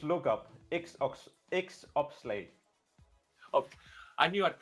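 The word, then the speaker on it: XOPSLAG: I now know what Zobschlag is. I don't know if I pronounced it right, but we were coming in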